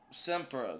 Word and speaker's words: SXMPRA: his music regardless um semper that's how you pronounce it okay shout out to